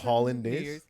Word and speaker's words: hollandaise: my holiday sauce Christmas it's hollandaise yeah Holland like the country Hollandaise sauce I think it's